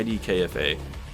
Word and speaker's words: IDKFA: Yeah, IDKFA.